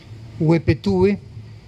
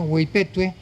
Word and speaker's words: Hueypetue: El pueblo, según uno va leyendo la novela, cree que se llama Huepetúe, pero resulta que se llama Hueypetue y es mucho más conocido como la Ciudad Dorada.